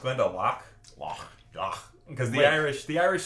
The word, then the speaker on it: Glendalough: It is pronounced Glendalough.